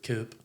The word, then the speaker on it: Coup: Yeah, I was curious about the spelling and the I thought it was pronunciation Coop. I'm not gonna lie. Coop or Coup? Coop. Really? Like Coop Yeah.